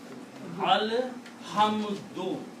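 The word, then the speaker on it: الحمد: Now pronounce this word. Alhamdu. With one pesh or one dhamma.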